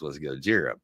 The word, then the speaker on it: Gojira: Of course, anybody who's a Godzilla fan was what the first pronunciation for Godzilla was Gojira.